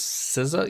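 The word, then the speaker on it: SZA: She pronounced her name as Siza.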